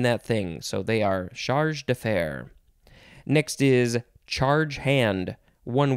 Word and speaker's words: chargé d'affaires: Charge d'affaires.